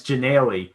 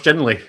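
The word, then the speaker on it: Ginnelly: I mean, you've got the G and the Y. Like, you've got the start and end. It's got the gin. It's literally that middle nail. That's all that's missing.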